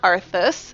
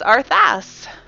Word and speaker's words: Arthas: way I spell it it's not arthus it's arthas and he's a prince and